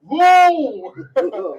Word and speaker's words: Louisville: Yeah, you can say it like that. Louisville. You know, you say the whole word. You say Louisville.